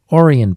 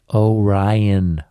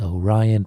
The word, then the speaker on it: Orion: that in that video i kept calling it orion protocol but of course it should be pronounced orion protocol so because i love the project so